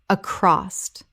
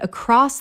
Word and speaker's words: across: Across common mispronunciation. Accrost correct pronunciation. Across two syllables. There is no t at the end, ever. Example The news spread across the department within minutes